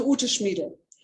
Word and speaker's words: Ute Schmiedel: You can hear she's a German, and I'm a German, so I can pronounce the name correctly. Dr. Ute Schmiedel.